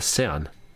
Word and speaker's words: sedan: Det var länge sedan. Now what you may have heard is that rather than länge sedan, she said länge sen. Sometimes the Swedish just won't pronounce certain letters.